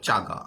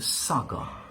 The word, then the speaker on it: saga: হ্যাঁ, দেখিও উচ্চারণ যদি ভুল হয় কিন্তু শেষ, অনেকে বলবে চাগা, হ্যাঁ, দ্য চাগা অফ শেষ, হ্যাঁ, দ্য সাগা, বলো সাগা, ইয়া, দেখো আইকন, হ্যাভ ইউ হার্ড